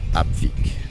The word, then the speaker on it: Epfig: Alors Epfig, ça se prononce Apfic en alsen.